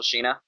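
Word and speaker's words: Sina: I don't but it's it would still be pronounced Sheena it's fine but Maria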